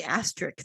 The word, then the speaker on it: asterisk: There's no T at the end. There's a K.